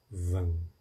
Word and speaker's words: Vam: O mantra desse chakra é chamado Vam. Lembra que você pronuncia sempre com os lábios fechados.